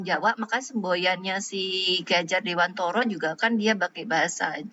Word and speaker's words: Dewantara: itu seperti konsep kihajardewantoro jadi bacanya meskipun tulisannya Dewantara tetapi kita membahasakan nya adalah Dewantoro nah Dewantara itu memang